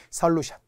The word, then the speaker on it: 솔루션: 그런데 솔루션 어로 발음이 나야 합니다.